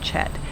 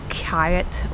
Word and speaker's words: kyat: So you would think like Kyat or Kiat. And so, but the reason that it's pronounced Chet is because in Burmese, the KY makes a ch noise, like the CH does in English.